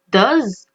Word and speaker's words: does: Attention aussi à la prononciation, do. Vous voyez, la prononciation n'est pas la même.